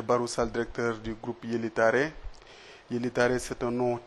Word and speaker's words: Yeli Tare: été latinisé Yeli Tare, donc pour mieux le prononcer et le faire approprier aux Sénégalais et aux consommateurs. Il s'appelle Yeli Tare.